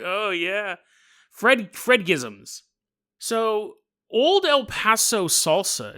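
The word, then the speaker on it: fredagsmys: so a new phenomenon catches on called uh Fred gizm Fred gizm which means if you pronounce it correctly means cozy Friday from this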